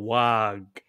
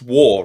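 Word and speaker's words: Waaagh: How many words in the fucking English language have the GH pronounced at the end? It's non, you daft. But it's like, it's Wah.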